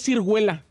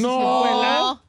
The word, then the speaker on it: ciruela: ciruela Cómo no es cirguela A poco no se dice ciruela ciruela tejay no es cirguela no dónde sacó la